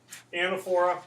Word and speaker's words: anaphora: Anaphora, you also hear the term anaphora. Both pronunciations are certainly acceptable.